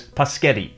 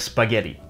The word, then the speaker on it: spaghetti: A common example is paschetti instead of spaghetti.